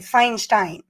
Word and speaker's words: Feinstein: là ouais c'est ça c'est pas Einstein faut juste rajouter un f avant fait que c'est Feinstein et mais on a